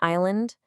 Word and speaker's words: island: See that silent S in island, or the silent B in debt?